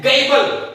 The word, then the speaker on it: gabble: ठीक है, तो गायबल को प्रोनाउंसिएशन के लिए बोल दीजिए गैबल। क्या बोलिएगा? गैबल।